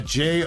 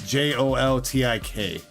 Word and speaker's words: Joltik: No, you got it with an X. You got Joltix. It's Joltik. Unless I missed you spell it right the first time.